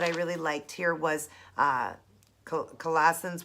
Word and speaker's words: Colossians: it Colon's one five it's a collisions or Colossians sorry guys Colossians one five it